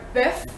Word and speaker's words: bœuf: Sœur, which is sister, or bœuf, which is beef.